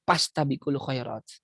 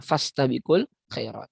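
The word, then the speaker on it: فَاسْتَبِقُوا الْخَيْرَاتِ: Yang kalau orang Sunda, fa jadi pa terus kan itu. Pastabikul khairat. Bukan fastabikul khairat.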